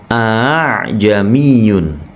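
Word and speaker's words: أأعجمي: bunyi Hamzah yang kedua ajamiyun penjelasan saya sebelumnya sudah ada a jamiyun bukan aha tapi a jamiyun kalau masih bingung Bisa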